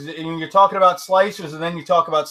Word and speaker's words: Slic3r: and I have submission how do you pronounce egos slicer keep slicer it's pronounced slicer that's like I mean